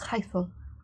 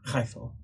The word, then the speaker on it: Hythal: Can you say it, please? Hythal. Hythal.